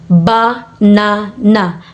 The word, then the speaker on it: banana: For example, the word banana has three has uh the word banana has three syllables banana. But the stress is on the second uh syllables uh uh the second syllables.